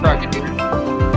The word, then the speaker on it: Frogadier: Oh, I can never pronounce this one. Panda, what is the Froakie's evolution before... Frogadier.